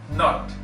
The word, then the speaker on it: knot: NOT नॉट, लेकिन जब इसके साथ K आ जाता है तो हल्का सा बोलने में ये नॉट बन जाता है, नॉट, नॉट, NOT नॉट एंड KNOT नॉट, नॉट।